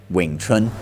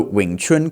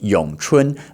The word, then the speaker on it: Wing Chun: But, for reference, in Mandarin, it is pronounced Yong Chun, or Yong Chun Kuen, Yong Chun Fist.